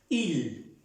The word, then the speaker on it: il: Y se pronuncia il, normalmente. Él, en francés, se escribe il y se pronuncia il.